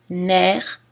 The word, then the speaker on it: nerf: Notez aussi clé, cerf, cerf-volant, nerf, chef-d'œuvre, où le F final n'est pas prononcé, mais en général, si vous avez uniquement le mot chef, alors il est prononcé.